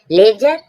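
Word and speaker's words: ledger: हैज हैेज मीन्स झाड़ी लेजर लेजर मींस वही खाता डी डी के बाद जी आया डी साइलेंट है जी से पहले डी है साइलेंट है लेजर लेजर मीन्स वही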